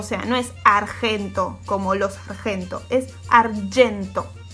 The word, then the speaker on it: argento: Y el color argento. Es argento, la G con la E se lee Y, no se lee G, o sea, no es argento como los argento, es argento.